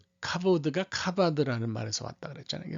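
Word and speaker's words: כבוד: 뭐 요게 이제 히브리 철자로 카프라고 그래가지고, 이게 이제 원래는 CH 발음이에요. CH 발음인데 여기 안에 요 점이 찍히면 이게 된 발음이 납니다. 이걸 우리가 다겟이라고 그렇게 얘기하는데 뭐 너무 자세히까지 할 필요는 없지만, 그래서 카가 되는 거고, 요 베트라고 읽는 거는 V 발음을 하시는 게 맞습니다. 그래서 카보드 이렇게 읽으시는 게 맞아요.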